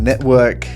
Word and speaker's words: NETVRK: just my personal opinion so it's spelt net to work to emphasize the vr aspects of this metaphors but i'm going to be pronouncing it network it's so as to avoid sounding a little too germanic network is a social